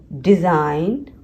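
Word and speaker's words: design: GN, फॉर GN examples are align, असाइन, डिज़ाइन, फॉरेन। इसमें G silent है, N का sound है लेकिन G साइलेंट है, पर दोनों को कंबाइन करके लिखा जाता है।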